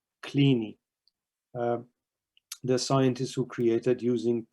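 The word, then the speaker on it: Kleene: regular expression uh by the way that is pronounced clini clini the scientists who created using perl the regular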